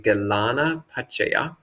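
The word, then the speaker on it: gilānapaccaya: So Galanpasa, this is the Sri Lankan pronunciation of the Pali Galana Pachaya.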